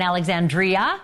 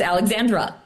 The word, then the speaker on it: Alexandra: name wrong tonight too I've got an Alexandria and an Alexandra which is my sister's name so which one is it and I want to get it right it's Alexandra and it's okay